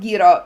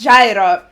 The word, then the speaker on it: Gyro: I pronounced it wrong. His name is not Gro. It's Gyro.